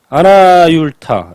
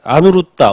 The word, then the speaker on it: 아누루따: 너는 어찌하여 지금 이 모임 가운데 아나율타는 눈이 없는데도 보고, 아나율타, 아누루따, 원래 이제 아누루따라는 발음으로 읽죠. 아누루따 존자. 그래서 아누루따인데 이제 한문으로 번역해서 그 한문을 다시 한글로 읽다 보니까 아나율타 또는 아나율 이렇게 읽죠.